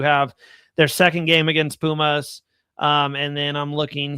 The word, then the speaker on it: Pumas: Um, it's San Diego FC hosting uh Puma. So, Pumas, did I say it wrong?